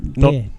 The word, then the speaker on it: Dare: Dare, not door. Dare. No relation at all, mate. They spell and pronounce their names differently.